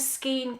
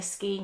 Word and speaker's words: Skein: This one was a Skein Queen. I have to say Skein because it rhymes with Queen, even though I would say Skein.